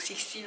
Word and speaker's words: Sixtine: Mais en soi, donc Sixtine ça s'écrit S-I-X-T-I-N-E, pas comme en anglais.